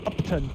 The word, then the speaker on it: Upton: It's not spelled uptown, but you know it just along the lines of uptown. It's just pronounced Upton and spelled Upton.